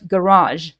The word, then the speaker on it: garage: is still G um the word garage right we are pronouncing it with j at the end garage but the letter is